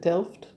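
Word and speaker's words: Delft: is that how you say it is it DED d e l f t those little hand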